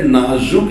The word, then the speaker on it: نازک: بڑا حساس معاملہ ہے۔ یہ جو لفظ نازک ہے اس کا تلفظ بھی بڑا نازک ہے، یہ زا کے ضمہ کے ساتھ نازک فرمائیے، نازک۔ زبان میں جو زا ہے اس میں اس کو مفتوح بھی پڑھ سکتے ہیں، مضموم بھی، زبان زبان دونوں پڑھ